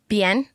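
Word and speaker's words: Biener: It's spelled the same way as Bieber with an N. It kind of looks like don't clip it. Ben, like in like the French word bien.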